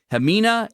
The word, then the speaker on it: Ximena: Her name is I think it's Ximena. It's spelled with an X, but it's Ximena Arias-Cristobal.